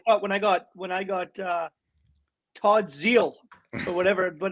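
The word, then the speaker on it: Zeile: I thought when I got Todd Zeal or whatever, but how do you pronounce his name? Zeal.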